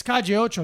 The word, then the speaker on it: Calle Ocho: No, 2 L's is a J. Well, it's a J. It's a Yeah. Y. Calle. It's Calle.